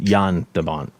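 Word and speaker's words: Jan de Bont: you know excuse me mike is saying it's produced pronounced yan dabant i've never met the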